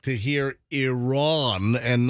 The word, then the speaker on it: Iran: guy for mispronouncing Iran and saying Iran like I Ran So Far Away can you say it either way uh well I guess they like to hear Iran and not Iran and